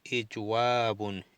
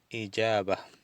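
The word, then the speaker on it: إجابة: Es más fácil pronunciar ijaba que ijwab.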